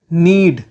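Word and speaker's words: knead: लटकना hang hang गूदना नीड नीड नीड में के silent होता है विरोध करना अपोज अपोज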